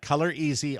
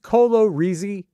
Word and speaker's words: Color Easy: it had it had color easy on the tube and was it not pronounced Colo reey it's color easy color easy I had to go